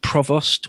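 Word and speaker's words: Prevost: I mean, there's Sir George Provost, or Provo, however you want to pronounce that, is the British governor of one of the Canadas.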